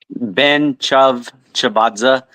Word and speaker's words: Ben-Tchavtchavadze: how is really said Ben CH chazza just like it looks what now Ben chav chazza but is fine